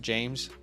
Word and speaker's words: James: Okay, why don't we do he says not offended, but it's pronounced James.